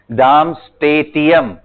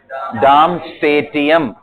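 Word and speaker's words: Darmstadtium: हाँ बिल्कुल सही, डार्मस्टेटियम। ये थोड़ा सा मतलब अलग सा नाम है, डार्मस्टेटियम। क्या बोलेंगे? आपको स्पेलिंग लिखना है, DARM है वो, डार्मस्टेटियम, डार्मस्टेटियम।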